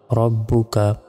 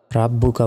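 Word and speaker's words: رَبُّكَ: পেশবু calf জবর কা রব্বুকা রাব্বুকা বলা যাবে না রব্বুকা বা জের বি হামজা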